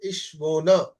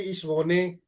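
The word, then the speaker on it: ich wohne: consonant E is coming, the pronunciation will be like this: Ishvona. Okay? It will not be Ishvone. No, it will be Ishvona. Okay?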